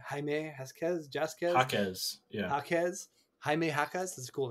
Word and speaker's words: Jaime Jaquez: I always like Jamie Jasquez, like Jaime Jaime Jasquez, Jaquez, yeah, Jaquez, Jaime Jaquez. That's a cool name. just pretend that the J's are H's.